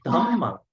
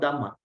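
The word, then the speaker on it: Dhammaṃ: Then Dhammang, not Dhamma. Dhammang Saranang Gacchami. Here, not Sangha. Sanghang. Sanghang. See, there's H.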